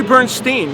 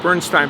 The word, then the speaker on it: Bernstein: It's actually Bernstein. Yeah. Although I think I should be pronouncing it Bernstein. Like Leonard Bernstein pronounced it Bernstein, but my family apparently did it wrong.